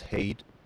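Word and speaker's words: Heide: By the way, it's pronounced hate in case you wondered.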